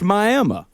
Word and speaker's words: Miami: There isn't a Hollywood, Texas, but there's a Miami, Texas, which is spelled Miami, but is pronounced Miami.